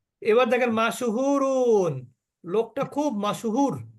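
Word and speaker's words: مشهور: দেখেন মাশহুরুন লোকটা খুব মাশহুর আমরা তো মাশুর কেউ বলে না বলে কি লোকটি খুব মশহুর মশহুর আসলে কিন্তু শব্দটা কি মাশুর মাশহুর মাশহুর শব্দের অর্থ হচ্ছে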